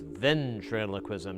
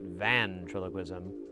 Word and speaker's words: ventriloquism: First, I might have to learn how to pronounce it correctly because I think it's ventriloquism, not vantriloquism.